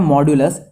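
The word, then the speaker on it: modulo: देखिए यहाँ लिखा है मॉड्यूलस, बट हम लोग इसको प्रोनाउंस करते हैं जनरली मॉड्यूलो।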